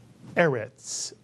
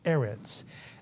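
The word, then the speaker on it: ארץ: series of from the alfet the word is pronounced erets mitan erets and do you remember what erit means yes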